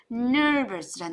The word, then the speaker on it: nervous: 이럴 때 긴장하다라는 단어는 nervous라는 단어를 써요. nervous, nervous. R 때문에요. 안으로 쭉 갖고 가는 발음을 하셔야 돼요. nervous.